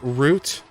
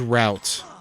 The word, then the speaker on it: root: Root? Yeah. Like, for some reason, I thought it was route. Like, we're routed. I've never heard we're rooted. No. So it's root, like tree root.